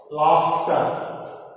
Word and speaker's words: laughter: in the word after gh gh made like gh makes sound like a f sound laughter in the word data